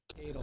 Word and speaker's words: Kadel: So give me the clapping emoji in the chat for my next guest, Kadel.